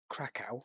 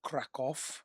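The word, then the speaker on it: Kraków: to Poland, went to Crackow or Crackoff, I believe is how they actually pronounce it with Ben and he had a guide book.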